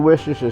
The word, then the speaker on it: Worcestershire: That's what we've been doing with the garlic and with the onions and with the salt and the pepper and the Worcestershire sauce. I pronounced it right this time.